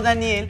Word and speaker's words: Danielle: Pero se escribe D-A-N-I-E, doble L-E. Aunque se pronuncie como Daniel, es chava, mamá.